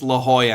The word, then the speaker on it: La Jolla: at me I'm like if you read it it's spelled lajjala and he's like it's La Jolla and I'm like oh